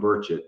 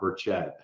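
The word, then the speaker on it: Burchett: this straight every time it's Tim burett not berett so I just want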